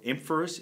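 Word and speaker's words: Ephemeris: So I've got one here which is called the Photographer's, I think it's called Emphorus is how they pronounce it, but it's TPE, and it shows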